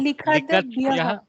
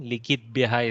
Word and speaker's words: लिखद्भ्यः: Likitbyah is a mistake. Likadbyah is correct form.